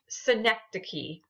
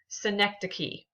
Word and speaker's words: synecdoche: together okay last one this is pronounced synecdoche synecdoche so you might might try